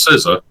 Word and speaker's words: Xizor: I don't know how to say his name, but it's like Prince Zizor. It's like Xizor. Very, very interesting. Prince Scissor. Scissor, yes. Prince Scissor.